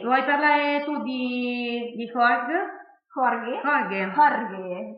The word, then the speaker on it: Jorge: Jorge, proprio la pronuncia spagnola.